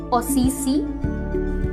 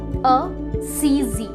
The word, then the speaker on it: Assisi: नहीं, यहाँ पे दो सेम साउंड को अलग अलग तरीके से प्रोनाउंस किया गया है। अ-सी-जी, पहला साउंड स का है और दूसरा साउंड ज का है। असीजी, है ना ये confusing? But yes, that is the actual pronunciation, असीजी।